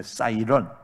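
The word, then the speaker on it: siren: 다른 복음은 없습니다 영어단어에 사이렌 이라는 단어가 있는데 싸 이런 우리는 보통 사이렌이 라고 그렇게 발음을 합니다 경보 줘 뭐 공습경보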